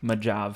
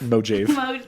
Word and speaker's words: Mojave: thought Mojave was Majav. Mojave. No, it was like Mojive. Mojave. Okay, but this is coming from the guys that thought Mojave was Mexican.